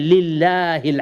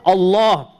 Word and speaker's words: Allah: Unless there's a kasra before it, then we say Lillahil hamd. Otherwise, Alhamdulillah. Or Allah, we say the heavy L. If there's a kasra, then we say Lillah, we make it light. Otherwise, when there's a fatha or a dhamma before it, we pronounce the lam as heavy.